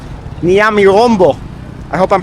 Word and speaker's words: Nyamirambo: I've been dropped off at Nyamirambo. That's how you pronounce it. Nyami plus Rambo. It also said it's the more vibrant area of Kigali. That I can see. Yes. The best, huh? Yeah. And Nyamirambo.